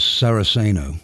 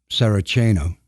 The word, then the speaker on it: Saraceno: haze of blue smoke that was saraceno or saracino as others pronounce it written and read